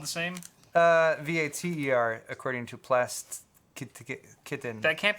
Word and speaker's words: Vater: But it's spelled the same? Vater, according to Kitten.